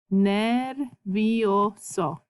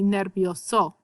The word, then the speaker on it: nervioso: So if you sound out words, that's cool in Spanish is if you say all your vowels, you're going to pronounce your words correctly. So just remember how to pronounce your vowels. E says e, I says e, and O says o.